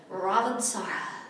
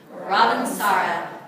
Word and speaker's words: Ravensara: And Ravensara is a French word, and you have to say it like you're French. You have to say Ravensara. Everybody say that with me. Ravensara.